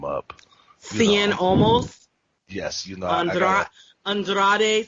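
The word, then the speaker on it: Cien Almas: Cien Almost. Yes, you know, Andrade Cien Almost. You have to do it with a Spanish accent.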